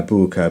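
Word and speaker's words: Böker: from for this video rather than uh bua because of the unlaw over the O and it is German after all let's just call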